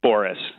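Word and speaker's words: Bores: It's Boris. Boris. Imagine it's spelled Boris, and Okay. you'll nail it.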